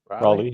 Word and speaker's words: Raleigh: Sorry, Raleigh was my first. Am I pronouncing that correctly? Raleigh, yeah. Just like North Carolina.